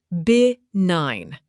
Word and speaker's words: benign: Benign, pronounced bi-nine.